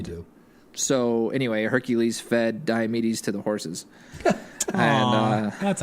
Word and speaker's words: Diomedes: So labor number 8, to bring back, to bring back the mares of Diomedes.